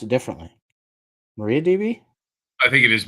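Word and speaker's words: MariaDB: you know mongod DB I should have done Mariah DB and correct me like I've always said Mariah DB but you pronounced it differently Maria DB I think it is Maria DB um Mariah Carey would take issue but uh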